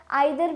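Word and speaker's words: either: हम इसे ईदर भी बोल देते हैं, आइदर भी बोल देते हैं। वो क्या है, ब्रिटिश और अमेरिकन एक्सेंट का सिर्फ फ़र्क हो जाता है, प्रोनाउंसिएशन का फ़र्क हो जाता है। ईदर या आइदर कुछ भी हम इसे बोल सकते हैं, दोनों ही करेक्ट प्रोनाउंसिएशन है।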